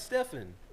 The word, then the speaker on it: Stephen: Stephen Curry who knows he spelled his name like you spell your name duh and he pronounces Stefan Curry somebody were hitting